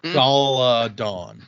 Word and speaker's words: Galadon: The pronunciation, it says, is Galadon.